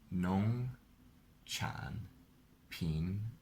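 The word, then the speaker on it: 农产品: Is it second tone, third tone, second tone? Well, you pronounce it well, but when you say the tone, you say it wrong. Okay, it's second tone, third tone, third tone. Nong chan pin, right?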